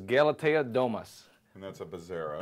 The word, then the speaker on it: Bezzera: And that's a Bezzera. Bezzera, yep. And that's how it's spelled.